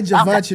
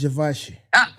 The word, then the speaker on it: Givenchy: And don't say Givenchy no more. That's not how you say it. It's Givenchy.